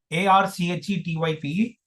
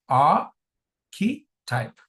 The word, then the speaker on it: archetype: A r c h e t y p e. A r c e t y p e. The pronunciation is archetype. Archetype. Archetype. A key type.